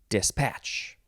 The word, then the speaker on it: dispatch: form of dispatch and in this case you emphasize the second syllable dispatch verb from 1517 starting